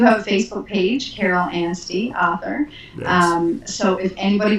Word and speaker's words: Anstey: So we're talking with Carol Anstey, who's an author in Newfoundland.